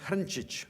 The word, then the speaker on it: Hrncic: my name is its original in creation pronounced hunch each which is tough one I guess and it's a spell to HR NCIC so many people ask me